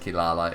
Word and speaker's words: Kirara: so there you go it should be pronounced kilala in case anybody's worried